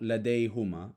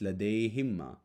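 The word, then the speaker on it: لديهما: ladeja Lade Hima again it's not Lade Huma it's Lade himma as the last vowel sound before the suffix is added is an e sound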